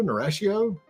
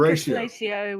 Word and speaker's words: Narratio: Narratio. Just think Narratio with an N.